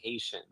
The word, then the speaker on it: Haitian: I'm just saying that you should work on pronouncing I'm Haitian. Because the way you're pronouncing it, the way you pronounce it sounds like I'm Asian.